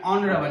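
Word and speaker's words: honourable: तो यहाँ इसमें ऑनरेबल, यहाँ भी एच साइलेंट है, खास करके साइलेंट वाला वर्ड ज़्यादा ही पूछा जाता है।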